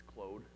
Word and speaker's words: Claude: I always wanted to say Claude, but that's not how you pronounce it in Canadian, right? It's Claude, right?